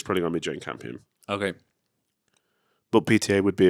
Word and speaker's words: Jane Campion: And it would be down to Paul Thomas Anderson and Jane Campion.